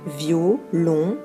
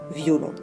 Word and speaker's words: violon: diérèse sur le mot violon au lieu de le prononcer violon on le prononcera VI o long je vous propose un